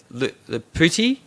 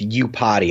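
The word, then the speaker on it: Iupati: And then Mike, how do you pronounce his last name? Lepati? It's U-Party. It's an I-U.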